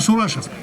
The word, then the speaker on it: Сурашев: Из этой деревни Яныш Сурашев, пишется Чурашев, но он Сурашев.